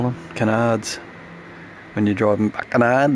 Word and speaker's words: canard: Canards. When you're driving a canard, they're called a canard. Carbon canards. Rhymes with gonad.